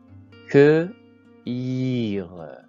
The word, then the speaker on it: cueillir: Donc le U se place avant le E. Exemple. Cueillir, cueillir, cueillir.